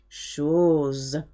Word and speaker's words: chose: Chose. Remember, S between two vowels is a Z sound.